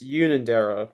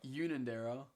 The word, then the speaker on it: Unanderra: It's pronounced Unanderra. Unanderra.